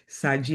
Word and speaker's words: Shadgie: For those who don't know me, my name is Shadgie. And yes, in English, people will say, but Shadgie, the H in my name is silent. I oftentimes say Shadgie like Sagittarius.